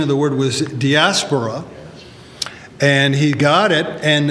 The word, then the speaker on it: diaspora: my cup of coffee and honor the actual pronunciation of the word was diaspora and he got it and the thing is it's a compound word DIA spora and the word literally meant from or through